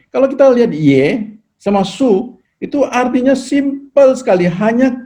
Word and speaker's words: 穌: Sekarang kita pelajari Yesus punya su ya. Ini adalah Yesus punya su ya. Su, bacanya su.